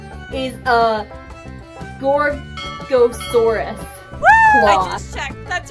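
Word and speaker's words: Gorgosaurus: and then this one apologies if I'm not pronouncing this right is a gorosaurus I just checked that's right yes and I'm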